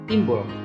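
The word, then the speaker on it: Timboel: yang bernama timbul Hai tulisannya memang timbul tetapi dibaca timbul karena ini adalah ejaan lama nah rupanya di dalam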